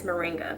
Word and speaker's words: moringa: choice tropical morning moringa i keep saying it wrong in my video that i talked about this like last year i called called it morning and it's moringa but it's the main choice